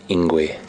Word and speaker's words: Ingwe: And it's a beautiful name for this animal, and this animal is called Ingwe. And it's spelled I-N-G-W-E.